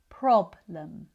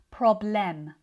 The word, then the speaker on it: problem: prob lum When the stress is at the start of the word, this means that the second syllable is usually reduced, which means the e isn't fully pronounced.